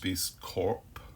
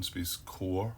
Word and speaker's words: SpaceCorp: I think it's pronounced SpaceCorp rather than SpaceCore, but I've heard people saying it either way, so I'm not 100% sure.